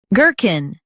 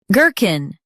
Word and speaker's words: gherkin: Girkin. Now read the syllables shown on the screen naturally. G. Kin. Girkin. Stress G and keep kin quick.